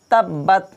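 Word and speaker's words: تَبَّتْ: তাব্বাত তাব্বাত তাশদি হরফ কয়বার করে ব্যবহার হয় দুইবার করে ব্যবহার হয় তাব বা একবার উচ্চারণ হয়েছে বাদ কয়বার হলো বা টা দুইবার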